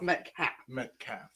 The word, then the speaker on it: Metcalfe: getting there he is extra silent so just met CAF - he's on my show and he still